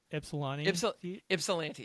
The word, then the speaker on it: Ypsilanti: In the I wrote this phonetically. Ypsilanti. Ypsilanti, yes.